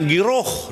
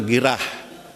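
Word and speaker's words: ghirah: nilai-nilai pendidikan kemudian makna giroh Nah kalau dibacanya kata anak muda mah girah padahal dibaca dalam bahasa Arabnya apa gir giroh l kata giroh giroh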